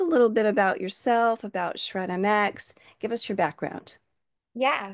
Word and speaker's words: Shred MX: Her name is Ashley Harris and Ashley um has a wonderful background in her company which is called Shred MX. I'm pronouncing that correctly, right Ashley?